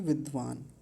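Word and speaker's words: विद्वान्: अंतिम शब्द है इसमें विद्वान विद्वान हलंत लगा हुआ है तो वहीं रुक जाएंगे हलंत नहीं होता तो क्या बोलते विद्वान ऐसा बोलते लेकिन अभी क्या बोलेंगे विद्वान बस इतना बोलेंगे तो पहली पंक्ति तो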